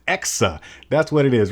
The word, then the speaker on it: EKSA: know hundred Pro video the whole time I was calling the company ESCA and I was pronouncing it Ross which I was transposing the K in the ass it is exa that's what it is